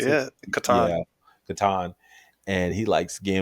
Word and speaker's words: Catan: Is that how you pronounce it? Yeah. Catan.